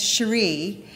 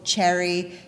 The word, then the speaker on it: Cherie: She is known as Cherie, and everybody was confused by how to pronounce that name. A lot of people, Cherry, Sherry, and then if they actually did get it right, they'd say it with a kind of curled lip, like, well, Cherie.